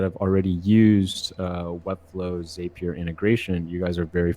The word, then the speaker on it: Zapier: you guys that are curious um you do pronounce it zapier as opposed to zapier I've always been wondering that people have been